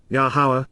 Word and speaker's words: Yahowah: And the spiritual messenger, Wa Malak, the heavenly envoy, representative, and ambassador, of Yahowah, Yahowah, the proper pronunciation of Yahowah, our Eloah, God as